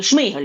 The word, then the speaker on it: Шмигаль: Якщо сам Шмигаль вносить Шмийгаль, кажуть правильно українською, до речі, наголос, якщо сам Шмийгаль вносить